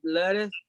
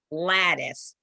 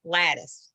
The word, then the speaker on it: lattice: basket a dodger called lettuce okay okay you're pronouncing lettuce like the lettuce um cream lettuce on a hamburger or a salad yeah but let it this is pronounced lattice yes that's correct lattice very good goddess okay